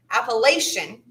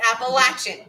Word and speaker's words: Appalachian: depending on where you hail from some will pronounce it appalachian that's wrong and for those of us who know how to pronounce it right it's appalachian so we always know if someone's from here